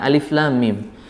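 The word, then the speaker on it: الم: Lam Mim gitu ya jadi masuknya huruf lam bunyi lam ke huruf mim itu ada cokannya ada cantolannya gitu Jadi tidak tidak datar tidak apa seperti enggak ada tasdidnya gitu kayak Alif Lam Mim gitu kurang sempurna atau kurang tepat yang tepat adalah masuk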